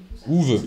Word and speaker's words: Uwe: Ouve.